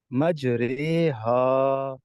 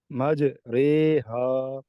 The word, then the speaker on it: مجریہا: لیکن یہ واحد حرف ہے جہاں پر ہم ایسے پڑھیں گے مجریہا، مجریہا، یعنی امالہ کے ہجے ایسے کریں گے میم جیم زبر مج، را امالہ والی رے، مج رے، ہا الف زبر ہا، مج رے ہا.